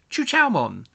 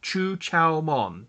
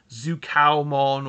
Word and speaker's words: Chuchaomon: It is Chuchaomon, not Zukaomon or Zhukiaomon or whatever other people may want to pronounce it as. And it's Chuchaomon.